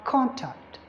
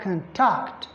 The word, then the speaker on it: contact: if it is a noun you're going to have contact because the primary stress is on the first syllable but if it is a verb you're going to have contact there like I said for